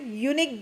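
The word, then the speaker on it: unique: यूनिक जो noun है इसका प्रोनाउंसिएशन क्या निकल रहा है, यूनिक गिफ्ट, है ना। और यू निकल रहा है ना इसका प्रोनाउंसिएशन, तो यह निकल रहा है, तो यह को देखकर हम यहाँ पर ए लगाएंगे, ओके।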